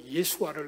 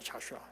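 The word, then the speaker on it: Joshua: 영어는 이 요수아, 원래 예수아를 우리는 비슷하게 요수아라고 번역을 했는데 미국은 자슈아잖아요. 자슈아. 저는 원어 발음하고 다르면 자슈아입니다. 예수아인데 자슈아로 번역했어요.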